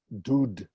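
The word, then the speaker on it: דוד: Well, that's what we do when we want to indicate the oo sound. So that's not dod, but dud.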